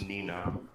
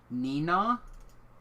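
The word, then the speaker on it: Neenah: in uh in Wisconsin near Green Bay it's pronounced Nina Nina yeah Nina okay well I a I'm a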